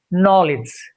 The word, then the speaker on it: knowledge: So we will just pronounce this particular word knowledge. Knowledge and knife. Knife and night. Knowledge. Knife. Knight. K is silent in combination of KN in the beginning of a word.